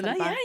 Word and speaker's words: Selbak: Did I pronounce it correctly? Yeah, Selbak?